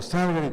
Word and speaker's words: Salgari: analogía entre los cuentos de Emilio Salgari, o Salgari, como dicen que se dice, pero nadie nos va a convencer de que no se dice Emilio Salgari, ¿no? Aunque se diga Salgari, pues nosotros siempre diremos Salgari.